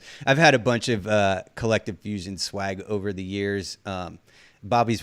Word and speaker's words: KLCTVE Fusion: Yeah, it's Collective Fusion, and it's spelled a little differently. It's spelled with a K, but it's KLCTVE Fusion. That's Instagram. That's mostly where I post anything and everything. For short, I call it Collective. Like I tell people I could only afford one vowel.